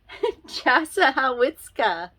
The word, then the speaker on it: Chassahowitzka: Chassahowitzka. Okay, so it's very hard to pronounce, and this is almost in central northern Florida. The locals just call it the Chaz. Okay? But it's the Chassahowitzka River, and it is a wonderful, amazing place.